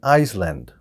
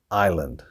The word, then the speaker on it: island: grew up on an Iceland I grew up on an Iceland all right the wrong word here is Island it's got an ass but we do not pronounce the S I grew up on